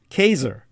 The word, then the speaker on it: Caesar: in the latin the classical latin uh for caesar which is a vulgarization it's an anglo-bastardized word the original latin pronunciation is caser and so in the german that just simply